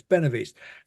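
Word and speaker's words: Benahavís: Ben Ben Ben benav benav that's it there's an H in it which isn't pronounced and I don't quite but anyway it's benov East and we were in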